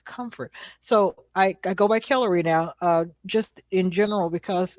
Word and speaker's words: Kellori: So I go by Kellery now, just in general, because it's not hard to learn it. It's like, the emphasis is on the first syllable.